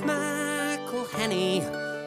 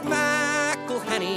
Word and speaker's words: McElhenney: It's McElhenney. McElhenney. McElhenney. McElhenney. If there was doubt, now there won't be any. It's McElhenney. First it's Mackle like a tackle when we take him to the ground.